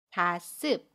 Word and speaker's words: 닿습: 어떻게 발음 하 죠 받침 헤 시 철 소리로 이동을 해서 쉬 옷과 결합하여 쌍 c 오수로 발음 해요 그래서 다 쑻 이라고 발음합니다 저 소리 자음 시